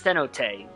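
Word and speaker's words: Cenote: I keep thinking it's pronounced the note, but it's cenot.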